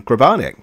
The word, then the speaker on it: Grabarnick: joining us in the Omniverse today it's grabanic hey Dave I meant to check with you if I was pronouncing your name right you totally did as